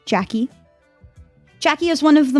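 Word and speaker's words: Jacqui: Okay, so that is spelled J A C Q UI. Jackie.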